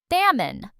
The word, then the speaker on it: salmon: This word has a silent L and it's a type of fish. Salmon.